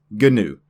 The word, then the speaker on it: GNU: So GNU, the GNU project, is GNU. That is the way the founders intended it to be pronounced.